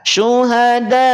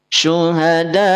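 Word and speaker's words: شُهَدَاءَ: Maka boleh panjangkan 6 harokat. Syuhada. Syuhada. Dan suaranya jangan dihabiskan. Suaranya diputus. Kenapa diputus? Karena ada hamzah.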